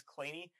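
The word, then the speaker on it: Kleene: a lot of people say this is the clean star um i've heard sort of third hand that are not to be uh pronounced as clainey i heard this from jack davidson who said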